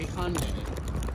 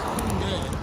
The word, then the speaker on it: Hyundai: You Americans say Hyundai a lot. It's Hyundai, but in like Korean, it's Hyundai.